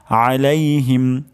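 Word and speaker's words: عليهم: আমরা উচ্চারণ করব আলাইহিম মাঝখান থেকে আইনটি উচ্চারণ করব আলাইহিম আলাইহিম আলাইহিম তারপর শব্দটি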